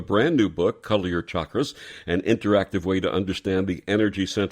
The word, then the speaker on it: chakra: do people sometimes pronounce it differently I've heard Shakra and all kinds of pronunciation that's cuz they don't know how to